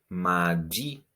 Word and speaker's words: mardi: Then we have mardi. Mardi. Also with a strong sound at the end.